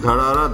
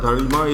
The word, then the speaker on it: Dharara: Dharima or Dharara, as you can see up here on the ground, it is Dharara. Dharima is a mispronunciation of Dharara. Dharima ran out and and